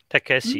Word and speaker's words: Takeshi: Takeshi, is that how you say his name? Takeshi, yes, correct pronunciation. Yeah, very good, Takeshi.